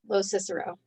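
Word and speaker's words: LoCicero: last name as well I'm really horrible with pronunciation it's Jean Lo Cicero Lo Cicero Jean Lo Cicero is the legal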